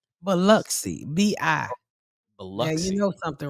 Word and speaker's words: Biloxi: Is that you really hit the O? Or do you say Biloxi?